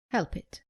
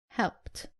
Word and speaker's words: helped: As you can imagine, the most common mistake is pronouncing the ed as id after all verbs. Let's look at some examples. Common mistake, saying help it. It is helped.